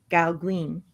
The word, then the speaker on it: Gauguin: How do you say that? Paul Gauguin. Oh, gone. Gauguin.